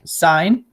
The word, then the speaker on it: sine: will talk about so first there's sign it's pronounced sign on a calculator it looks like this then